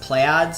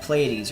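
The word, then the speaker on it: Pleiades: this world this world I originally thought was um I thought it was uh pronounced um play ODS it's p l e i d e s something like that someone in the comment section actually told me it was called it was pronounced playes or something uh I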